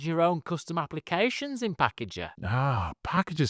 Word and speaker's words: Pckgr: And one of these applications that I found is called Packager, but it's spelled PCKG.